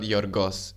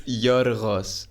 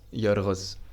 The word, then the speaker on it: Yorgos: It's not pronounced G. It's not Yorgos. It's Y. Dude, I'm joking. It's pronounced. Take two. It's Yuros. Yoros.